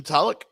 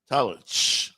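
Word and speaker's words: Tulloch: weer yeah shout out to the owner Stephen tullk is it t that how you say it it's t tulich okay yeah Detroit Lions that's where I've heard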